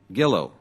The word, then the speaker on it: Gillo: Gillo. Gillo. The way it's spelled, not the way my staff wrote it. They wrote G-E-L-O, soft G. That would be Gillo.